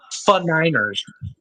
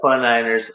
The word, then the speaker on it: 49ers: to point out that that AI generated thing pronounced 49ers of the F9ers. The 49ers. I I literally like Jake had asked me about it and I said, "It's exactly what you think."